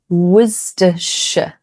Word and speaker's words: Worcestershire: Okay, next, Worcestershire. This one is a classic pronunciation trap. So it can be pronounced Worcestershire or Worcestershire, depending on the region and the accent. It's not pronounced Worcestershire.